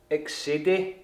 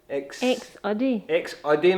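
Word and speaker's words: Exedy: It's X-Udde. X-Udde, Michelle says, is the way the Japanese pronounce it. X-Udde. X-Udde. I say X-Udde. It said E-X-U-H D. Is the way it pronounces it. According to Google.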